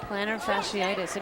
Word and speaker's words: plantar fasciitis: Yep, plantar fasciitis.